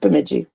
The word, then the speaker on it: Bemidji: Bemidji? Well, it doesn't look like you think it would be pronounced like that. Or something. It looks worse than it really is. Yeah, but it's just Bemidji.